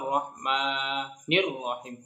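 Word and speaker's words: الرحمن الرحيم: Ar-Rahmanir-Rahim. Ya, sekali lagi saya contohkan. Ar-Rahmanir-Rahim. Itu ya, cara pengucapannya seperti itu.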